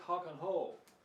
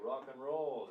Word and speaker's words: rock and roll: your favorite music someone might say I like Hawk and hole okay so what's the problem they're pronouncing or like H it's written like this